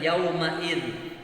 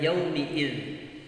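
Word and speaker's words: يومئذ: Ya, yang sering itu adalah yauma'id. Ini bacanya adalah yaumi'id. Harus diperhatikan, jangan sampai keliru dalam membaca huruf mim yang mestinya di kasrah tapi kita ya selalu membacanya dengan fathah, yaumi'id.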